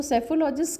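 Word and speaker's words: psephologist: उससे रिलेटेड जैसे मान लो सेफोलॉजिस्ट, तो सेफोलॉजिस्ट की स्पेलिंग पी से स्टार्ट होती है, और सेफोलॉजिस्ट जो होता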